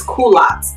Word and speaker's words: culottes: was butchering it, but I was told it's culottes.